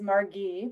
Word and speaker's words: Margee: for having me um my name is margee with the hard g i'm the deputy director